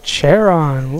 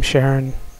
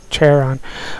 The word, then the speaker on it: Charon: Yeah, I've seen the name Charon. Apparently that's how you're supposed to pronounce it. I've always been pronouncing it Charon.